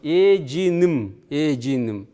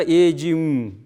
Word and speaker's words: эджиным: А если «м», то моей бабушки. Эджиным. Произносится иногда эджим. Два «м» может произноситься, но грамматически эджиным. Ну, юмбеля, эджиным, ца и так далее, да?